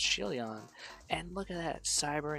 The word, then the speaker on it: Shieldon: Shieldon is a Pokemon with a shield. So it's actually pronounced Shieldon.